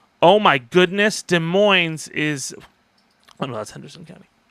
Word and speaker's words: Des Moines: I know the S is silent, virtual traveler. Des Moines.